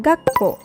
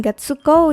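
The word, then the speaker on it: がっこう: Contohnya, kata gakko. Dibacanya bukan gatsuko ya, tapi gakko. Ga-nya ditekan.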